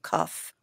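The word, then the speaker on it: Qoph: I think it's pronounced like K-U-F, Cuff, but it's spelled Q-O-P-H, and that is the 19th letter of the Hebrew numbers.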